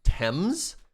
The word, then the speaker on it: Thames: no no no no wait thames is pronounced thames that doesn't even make any